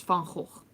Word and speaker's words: Van Gogh: No, people think that it's the Van that goes, but it's Van Gogh.